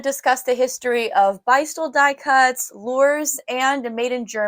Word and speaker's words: Beistle: my last YouTube video, I learned that it's actually pronounced Beistle, and I wanted to be sure that was true, so I called the Beistle phone number because Beistle is still open today. And sure enough, it said, thank you for calling Beistle. And so now I know that's how you pronounce it.